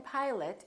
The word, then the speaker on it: pilot: talk to the pilot the o in pilot becomes uh i'd like to talk